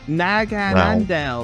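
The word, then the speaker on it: Naganadel: It's like so hard to pronounce. It's right? Nagahandel, that's its name.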